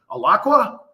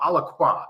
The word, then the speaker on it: Alaqua: right because I was I was pronouncing that really badly the other day from the East Coast I'm like alaka no Alaqua okay so I got it right so looks beautiful